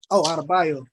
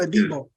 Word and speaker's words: Adebo: Because, you know, like we still got Abadej, how you say his name? He was a rookie last year and started. Adebayo. Yeah, Adebayo. We Not still Adebayo. like it's something like Paulson Adebo.